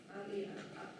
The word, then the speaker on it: Rai: We pronounce this as a Rai, not Rai, R-A-I, because A in Khasi is A, so it's Rai.